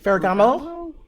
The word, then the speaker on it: Ferragamo: And this is a Ferrar I don't even know how to pronounce it. Farragamo.